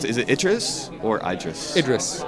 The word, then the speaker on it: Idris: Uh can you tell how do you pronounce Is it or Idris? Idris. Idris.